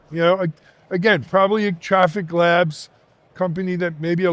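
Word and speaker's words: Traefik: You know, again, probably a Traffic Labs company that maybe a lot of our folks haven't heard of.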